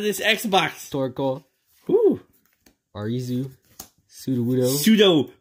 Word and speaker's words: Sudowoodo: Sudowoodo. Sudowoodo. That's how it's pronounced.